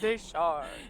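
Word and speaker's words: de Chartres: Fort Deschar. Is the pronunciation. We just always call it Fort Charter.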